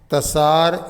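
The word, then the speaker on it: तसर: वैसे उसका सार नाम है TSAR, तसार, टी साइलेंट है यहाँ पे।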